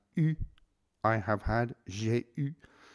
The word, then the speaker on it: eu: Notice the past participle is pronounced eu, I have had, j'ai eu.